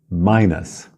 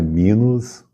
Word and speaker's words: minus: de mais e menos o menos em inglês é Minas Minas não é minos Minas como se tivesse um